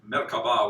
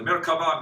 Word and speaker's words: Merkava: This V is often a B in ancient, so it's Merkava would be the ancient way.